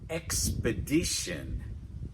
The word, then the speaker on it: expedition: "relation" "Relation" "Expedition" "Expedition" Okay, notice here we've got "ex". That second syllable we've got (is) weak, so we've got "puh" "puh" That "uh" sound (is) very relaxed "Ex" "puh" and our stress is on the "di" and remember in Englis it's "di" like in "fish," "Expedition" All right, are